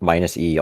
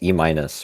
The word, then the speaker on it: minus E: I am minus E, also known as E minus by all of the people that mispronounce my name after seeing C minus.